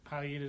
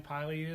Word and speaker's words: pileated: a pileum and so i think palliative is what the intended the pronunciation of it was but either one you're fine pilated or affiliated and where do you